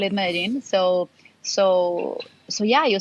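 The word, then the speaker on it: Medellín: so so right now imagine that's the real pronunciation everybody's like ah madeline but like in in in colombian spanish we call it medin so so so yeah you see like in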